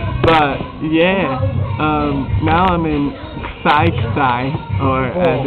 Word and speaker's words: Xai-Xai: Now I'm in Xai-Xai, or as it's actually pronounced, Xai-Xai.